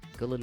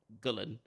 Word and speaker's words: Gullane: Gullane number 1 Golf Club preview.